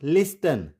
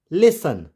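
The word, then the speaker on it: listen: एस टीई एन कि यदि कोई word S टी ई एन से एंड होगा तो वहां पर भी टी साइलेंट होगा जैसे एल आई एस टी ई एन इट्स नॉट लिस्टन इट्स लिसन लिसन देखिए अगर हम स्पेलिंग लिखेंगे लिसन एल आई एस ई एन लिसन तो वह गलत हो जाएगी लिखना तो हमें टी पड़ेगा लेकिन इसको प्रोनाउंस नहीं करेंगे लिसन वैसे इट्स फसन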